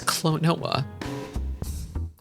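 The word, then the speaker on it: Klonoa: It's Clonoa.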